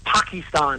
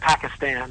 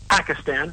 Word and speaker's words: Pakistan: not quite sure like he says Pakistan instead of Pakistan and you know I I I I don't quite get where that I think different parts of the world pronounce it a little differently so I don't know I mean I think if he's a citizen of the world but in the United States the most common uh pronunciation is Muslim and it's Pakistan not Pakistan but um maybe he's